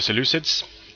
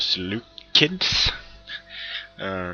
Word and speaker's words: Seleucids: This time it's Suebi versus the Seleucids, or the Seleucids, depending on which camp of pronunciation you subscribe to.